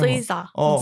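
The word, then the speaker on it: SZA: 발음. 스이자.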